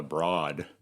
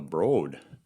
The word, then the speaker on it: Broad: And they'll judge you in Los Angeles if you say the Broad, like Broadway. The Broad.